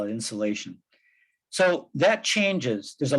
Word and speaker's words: insolation: So it's like insulation, except with an O instead of a U. So it's a technical term, insulation, but that's the sunlight energy that we get. We call it insulation.